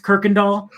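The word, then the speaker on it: Kuykendahl: uh in houston we've got a street called kirkendall no don't ask how people spell it don't ask how to say it it's it's pronounced kirkendall it is it's got like a y it's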